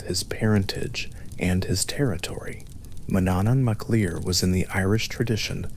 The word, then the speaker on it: Manannán mac Lir: She was the daughter of Manannán mac Lir, whose name identifies his domain, Maclir, meaning son of the sea being both his parentage and his territory. Manannán mac Lir was in the Irish tradition the lord of